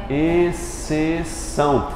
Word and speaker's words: exceção: isso aqui olha só eu digo até um som de um s só né exceção compare essa palavra com